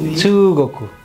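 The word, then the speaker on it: 中国: ওই যে হ্যাঁ কোকু, কোকু হয়ে গেছে গোকু।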